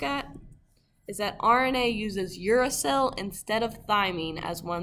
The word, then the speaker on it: uracil: I added the phonetics there so you know how to pronounce it, uracil.